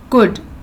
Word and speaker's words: could: Her boat could, L is silent, could float.